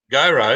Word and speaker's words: Goro: Okay, Goro, because I was about to say he's not actually, but I've been calling